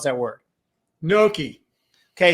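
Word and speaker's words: gnocchi: that word Noki okay so that's how I pronounce it but it although I've heard it nii too he puts the Y in there a little bit noi right so which I'm sure is probably correct like we were just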